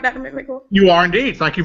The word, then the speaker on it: McMickle: Marvin McMickle. Am I pronouncing it right, Dr. McMickle?